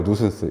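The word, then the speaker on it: nuisance: 누슨스라고 읽어요. 누슨스. 이거 C입니다. C. 누슨스.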